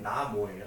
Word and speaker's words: 나모: 나무는 명확하게 이제 원래 발음이 나모예요. 나모.